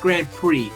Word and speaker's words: Grand Prix: And it's pronounced Grand Prix. For some reason, the X is silent.